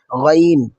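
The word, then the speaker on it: غين: পড়ার সময় গলার ভিতর একটু গড়গড়ে আওয়াজ হবে। এই গড়গড়ে আওয়াজটা যখন হবে তখনই আপনি বুঝতে পারবেন গইনটা সঠিক উচ্চারণ হচ্ছে। হরফটি মোটা করে পড়তে হবে।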